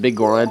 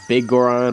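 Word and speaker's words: Biggoron: So I don't know how you're supposed to pronounce it, whether it's Big Goron or Bigoron. I say Bigoron for some reason.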